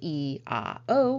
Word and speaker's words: IAO: Let's talk about E-A-O. The E is pronounced like a key, and the O should be hummed or intoned in such a way that you can feel your throat vibrating.